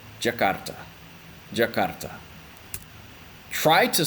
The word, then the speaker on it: Jakarta: in Indonesian for example I'm going to say Jakarta Jakarta try to spell out Jakarta in Indonesia